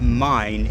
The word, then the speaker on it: Main: n e and but it's actually pronounced the river mine in German and this is another